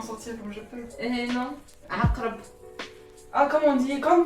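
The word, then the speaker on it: عقرب: Aqrab. Ah, comme on dit, comme quand on dit akarabi. Akarabi. Je te jure, genre. Non. Aqrabi. Oui. Oui, non, mais non. C'est pas ça, d'accord. Non. Aqrab.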